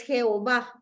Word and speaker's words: Jehová: alemán Por qué Porque la ye en alemán se escribe no no hay y sino que el sonido de la y de yah es J Entonces yah era un